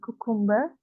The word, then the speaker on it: cucumber: and cucumber cucumber cucumber Iya bacanya cucumber tulisan umber yaumber bacanyaberberber ya kalau British itu r-nya itu gak Gak disebutin ya atau hilang rnya jadiambaambaamba kalau British ya kalau amerikan r-nya mesti jelas ya sebenarnya lebih enak